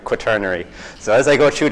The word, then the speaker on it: Quaternary: That's how you pronounce it, Quaternary.